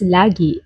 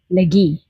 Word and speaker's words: lagi: This word is pronounced as lagi in Filipino or Tagalog, but in Bisaya, it is pronounced as lagi, which has different meanings or definitions depending on how it is being said.